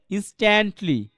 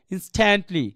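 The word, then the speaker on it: instantly: ইন্সট্যান্টলি। ইন্সট্যান্টলি। এটাকে এমন কেউ পড়তে পারবেন না। ইন্সট্যান্ট। এটাকে ঠার সুযোগ নেই কোন। কারণ তার আগে একটা এস আছে। তাহলে কি হবে? ইন্সট্যান্টলি সরি ইন্সট্যান্টলি রাইট এইভাবে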